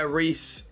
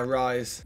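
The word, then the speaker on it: Riise: Oh yeah, Reese. Reese. Rise. Don't know Reese, mate. Yeah, Rise. When you see him Rise, and Andy was like, who the hell is Rise? But it's spelled R-I-S-E.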